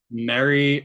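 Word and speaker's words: Meri: referring to Mary who Mary um it's this ancient Egyptian person who was I think is spelled m-e-r-i um and this is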